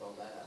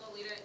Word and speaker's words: Lolita: Most girls that I have met in America, because it's spelled Lolita in the way of the American pronunciation, we all just say it the American way instead of altering it to be a different form, per se.